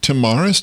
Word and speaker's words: Tomaras: Uh I put out a call and I said I'd really like to introduce Troy Tamaris. Did I pronounce that correctly?